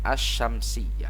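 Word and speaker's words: الشمسية: dia alif lam syamsiah dari cara membacanya saja atau perhatikan as-syamsiyah jadi langsung ke huruf Sin as-syamsiyah Hai baik ini dia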